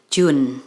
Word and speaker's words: June: Dan pengucapannya pun menjadi June, bukan Juni.